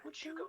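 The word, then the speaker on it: Huachuca: I finally remember how to pronounce that, but it's called Huachuco City.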